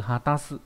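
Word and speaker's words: 果たす: Âm kunyomi của chữ này đó là ha, trong từ hatasu có nghĩa là hoàn thành, đóng.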